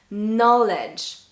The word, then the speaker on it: knowledge: knife knife knees nice knowledge knowledge you can hear i'm only saying the n and not the k the k is silent okay another side and